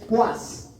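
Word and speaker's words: poise: Su pronunciación correcta enfermos, es puas. ¿Cómo es? Puas. El francés.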